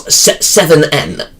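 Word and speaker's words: Se7en: And then the first 90s film, Seven. Or, if you prefer to pronounce 7N. Because how it's stylized.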